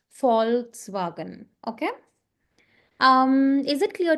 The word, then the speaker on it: Volkswagen: It's not Volkswagen, it's Faulkswagen because it's a German car brand and V is always pronounced as F. So that is why it's FS wagon.